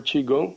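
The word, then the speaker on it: Qigong: g o n g that's the word for chiong I just also can be spelled c h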